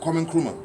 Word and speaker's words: Kwame Nkrumah: Kwame Nkrumah.